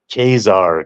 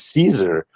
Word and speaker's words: Caesar: on the screen and I was always pronouncing in my head like kesar kesar and so I thought this fucking guy in this video game was kesar and but in reality it was Caesar and so there and